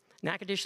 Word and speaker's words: Natchitoches: I'm not from Louisiana, but I've had to learn how to pronounce this. Natchitoches. Did I do that right? Okay, Clint's nodding, so that's good. Natchitoches, Louisiana, where she received her BS in biology